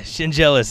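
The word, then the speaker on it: Schendzielos: his name is Nick shin jealous and I wasn't going to try and pronounce it yeah shin jealous is how you say it and he's played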